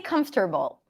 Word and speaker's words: comfortable: you the shortcut um so technically it's comfort ball comf three syllables you can pronounce it in four comfortable but I I find it a lot easier for non-native speakers to just choose come Bowl but you can also drop the r comfortable comfortable if the r is